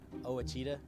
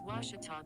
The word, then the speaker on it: Ouachita: ouachita sports digital network i've heard people say oh a cheetah oh wichita oh a cheetah is it pronounced searching for washi at a baptist university back in texas everybody pronounces it wichita but really it's ouachita washington washington how would